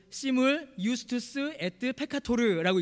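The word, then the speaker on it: simul iustus et peccator: 이게 시물 유스투스 에트 페카토르라고 읽습니다.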